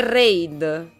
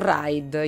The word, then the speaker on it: raid: cose qui a occhio occhio si dice reid non ride ignorante vabbè radio lo chiamo